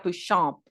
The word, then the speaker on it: Béchamp: Mucho después de las teorías de Louis Pasteur, llegó otro científico que se llamaba Béchamp, perdón, se pronuncia Béchamp, es francés, algo así.